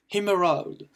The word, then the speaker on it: emerald: Donc l'émeraude, emerald. Donc le E qui se prononce I, comme d'habitude, et le AL qui se prononce world. Et on ne prononce très légèrement le D.